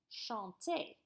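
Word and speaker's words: chantez: easy on the end this sounds exactly like the infinitive so you pronounce it Shantay so listen to this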